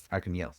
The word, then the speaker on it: Arkhangelsk: Well, the G is pronounced like a Y, but otherwise, yeah. Arkhangelsk. Arkangelsk.